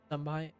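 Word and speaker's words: Dzemael: I didn't realize they call it Zamail. The D is silent.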